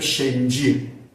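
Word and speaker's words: செஞ்சி: या म्हटलं बस मध्ये सो किल्ल्याच नाव आपण जिंजी म्हणतो स्पेलिंग प्रमाणे जी आय एन जी डबल वगैरे करतात प्रत्यक्ष तामिळनाडूत जर गेलात तर इथं या शब्दाचा उच्चार केला जातो शेंजी आता तुम्हाला कल्पना आली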